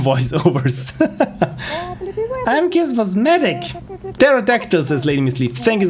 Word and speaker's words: pterodactyl: thank you so much i believe the p is not pronounced thank you again fred it's pterodactyl and i always want to say pterodactyl yeah the p is silent because of course i